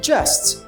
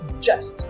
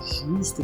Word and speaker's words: just: later late atrasado e later significa mais tarde just presta atenção na pronúncia dessa palavra just cuidado para não falar justo nem just Ok é o esse J ele